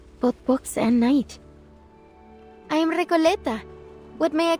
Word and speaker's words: Recoleta: So like, I am Recoleta. Recoleta, which is how I prefer to say Recoleta.